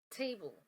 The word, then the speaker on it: table: the second one t table table because it has the dark L and do not pronounce theah Sound Table Table straight into the dark l sound but camel camel you